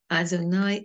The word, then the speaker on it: Adonai: Ki ata tikvati Adonai Elohim mivtachi minurai.